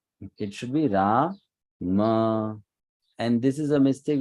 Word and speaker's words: Rama: on your screen so the first word is Rama it's not Ram many people will say it's Ram it's not Ram it is why this Rama because after M there is an a if after them you remove that a then it will become Ram it should be ra